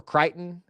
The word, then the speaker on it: Creighton: And by the way, does anybody say Creighton or Crichton? How do you guys pronounce it? I pronounce it Creighton, and I think that's how it's pronounced.